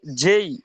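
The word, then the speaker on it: J: এটা অনেকে জি বলে, কিন্তু এটা হবে জেই। ঠিক আছে, জেই। উচ্চারণটা একটু, প্রথম উচ্চারণটা এ, এটা এই হবে, এবং জি এটা জেই এভাবে হবে।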